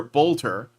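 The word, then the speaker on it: Boelter: The suspect, Vance Luther Bolter, I hope I'm pronouncing that right. I think it's pronounced Bolter. It's Oelter.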